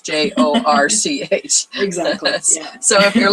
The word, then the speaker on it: Jorch: So when you think York, it's not what you think. It's Jorch. Exactly. Yeah. So if you're looking for Jorch, it's Jorch.